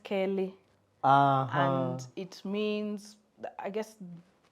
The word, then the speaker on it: Keli: No, it's Kelly. It's Keli. Okay. Which in Kamba is pronounced Kelly.